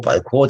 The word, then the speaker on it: Balkon: Balkon, 다시 살짝 프랑스 발음 때문에 발콘 이 마지막은 강하게 발음 안 하셔도 됩니다.